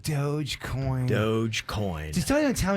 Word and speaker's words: Dogecoin: it trips people up it's spelled d o g e c o i n so a lot of people think it's like doja cat and they call it dojo coin it's actually just dogecoin dogecoin dogecoin just don't